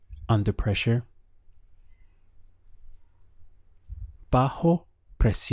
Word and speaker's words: bajo: in Spanish is bajo bajo notice the strong H sound here bajo and the word for pressure is presion press e on how do you say under pressure bajo press e on now